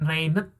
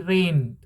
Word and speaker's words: rained: Kemudian bukan rained tapi rained. Rain. Ed-nya juga jangan Anda baca terlalu kencang.